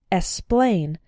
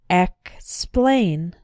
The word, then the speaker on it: explain: words X is pronounced be careful in words like explain to include the K sound sometimes students pronounce it like explain but that's not correct it should be explained explain the other way